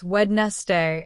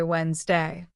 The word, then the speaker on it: Wednesday: For example, many students pronounce the word Wednesday as wedstee in their minds, but native speakers say Wednesday.